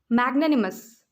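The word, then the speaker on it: magnanimous: मैग्नेनिमस। मैग ने नी मस। मैग ने नी मस। जैसे बैग वैसे ही मैग, तो मैग एम से स्टार्ट होता है।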